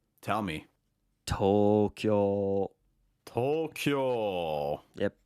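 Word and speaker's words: 東京: it correctly tell me Tokyo Tokyo yep tolkill has two long vowels one on the toe and then another one on the kill and it's Tokyo um speaking of um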